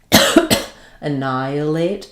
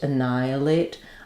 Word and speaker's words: annihilate: Annihilate. Annihilate. Um, so the ni the h is silent and then we have an i.